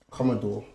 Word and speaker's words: Commodore: your last name how do you think you pronounce it Commodore yes Okay Casa de la comodo yes the